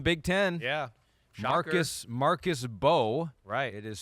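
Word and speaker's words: Mbow: Marcus Marcus Bo. It is spelled Mbo, but it is pronounced Bo. The M is silent.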